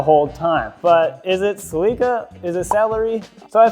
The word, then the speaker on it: Celica: So from what I can tell, in Japan, like, you know, where it was made and stuff, it's pronounced Celica.